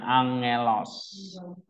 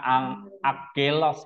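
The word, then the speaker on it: ἄγγελος: Ang, iya, angelos, ya. Jadi suara eng dia, nggak ada suara g lagi, tapi eng. Jangan baca ang akelos ya, tapi angelos, angelos, ya kan?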